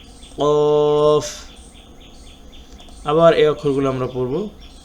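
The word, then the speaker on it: ق: ত য আইন গইন ফা কফ কাফ। কফ হলো গম্ভীরভাবে এবং জিহ্বার গোড়া তার বরাবর উপরে তালুর সঙ্গে লাগাইয়া।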